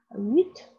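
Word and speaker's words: huit: 要发音啊 t 要发音 wit 哎这个 t 也是要发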